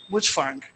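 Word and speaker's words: Mutfwang: So let us hope that governors when I I said Mfang I was an undergraduate in Amad University and I know a cousin of his by that name that's how I know to pronounce it Mfang. Governor Mufang, I want to thank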